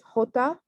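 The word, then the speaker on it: jota: we have j when the letter name is hota and you can see it sounds like the english h so hota um for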